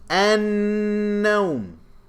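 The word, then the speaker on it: النوم: An-nawm. Did I pronounce the lam? No, I didn't. It went straight to the noon, and there's a shadda on the noon, so you know that it's what? Solar.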